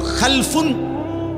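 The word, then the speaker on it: خَلَفٌ: generation দুই রকম আরবিতে একটা হল খালফুন আরেকটা হল খালাফুন একই শব্দ শুধু উচ্চারণের মধ্যে একটু ভিন্নতা মাঝখানে একটা লাম আছে এই লামটার মধ্যে যদি সাকিন হয় তাইলে হল খালফুন আর যদি লামের মধ্যে জবর হয় তাহলে হল খালাফুন আরবি শব্দ খালফুন মজিদ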